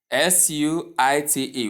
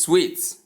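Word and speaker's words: suite: The next slide In the next slide, we have number 8, which is S-U-I-T-E, which is sweet, not suit, as so many people pronounce it.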